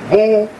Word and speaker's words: Boulé: Known as Boule, pronounced Boule, the group is here.